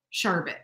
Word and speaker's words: sherbet: the first r but a lot of people say it with the second r b-e-r-t they pronounce it